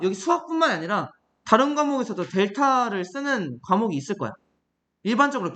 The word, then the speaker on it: 델타: 기호로 이렇게 쓸 거야 이게 뭐라고 읽나 뭐라고 읽는가 델타 x라고 읽으면 됩니다이 세모라는 기호를 델타라고 읽으면 돼 얘는 델타 y겠지 이게